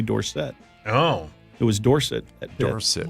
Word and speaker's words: Dorsett: It was Tony Dorsett when he won the Heisman Trophy, and then when he got to the Cowboys, he changed it to Tony Dorsett.